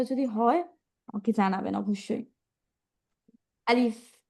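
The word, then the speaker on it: ألف: তাড়াতাড়ি বলব আর হচ্ছে শেষে কেউ পব না বা বব না আলিফ আলিফ এরকম বলব না আমরা হচ্ছে আলিফ বলব শেষে আলিফ আলিফ হ্যা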